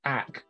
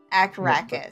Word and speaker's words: Akracus: Is it AG or AK? AK. K's all the way down. Akracus. Well, it's not like crack. It's Akracus. Akracus. That first K is on the first syllable.